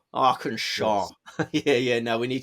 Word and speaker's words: Arkansas: I the knowledge of American states and perhaps pronunciations as well yes yes yes Arkansas arkansaw yeah yeah no we need to work on